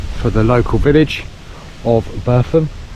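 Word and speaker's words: Burpham: the local Village of bam spelled b u r p h a m but is pronounced bam and um one of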